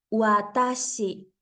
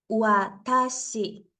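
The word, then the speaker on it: わたし: es la palabra chiua entonces cada vez que yo quiera pronunciar la doble u con la a será como ua nunca como gua de esta manera yo tengo una palabra que es watashi watashi que significa yo es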